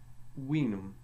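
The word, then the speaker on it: vinum: V had a sound similar to our W, so we will and winum.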